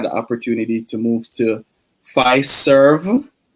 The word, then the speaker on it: Fiserv: opportunity to move to phi serve make sure i pronounce that karen um so it's f i s e r v right it's the the financial services and payment company um not not pfizer you know the drug company right i got the